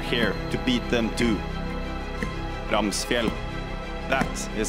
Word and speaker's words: Ramsfjell: Ramsfjell. That is how you pronounce it.